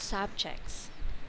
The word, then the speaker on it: subject: So if we press on the first syllable, That's it's noun. a noun. Correct. Yeah, and the last is the verb.